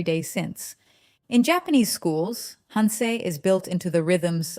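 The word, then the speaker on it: 反省: Pronounced hansei.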